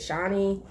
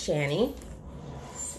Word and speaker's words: Shany: it i was like is it shanny is it shawnee so i did find out it's shanny and that's really nice